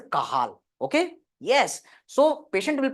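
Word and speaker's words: Cajal: interstitial nucleus of the kazal kazal better to say correct pronunciation is the kahal okay yes so patient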